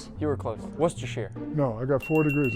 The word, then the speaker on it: Worcester: Worester Cyrus sauce. You were close. Worcester.